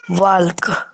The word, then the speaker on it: walk: I am going for walk. पहला चीज इसमें WALK, एल साइलेंट है, वो हमेशा होता है वॉक।